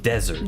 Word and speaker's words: desert: There's one is called dessert そう and desert.